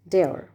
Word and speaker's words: Dior: Actually, it is a French brand, so the D can be pronounced as de. So it can be Dior or Dior. Dior.